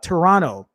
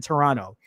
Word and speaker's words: Toronto: sure it would uh pronounce uh toronto but with the s sound and not the t yeah i've learned when i went to toronto they they taught me don't don't say the last part of the t in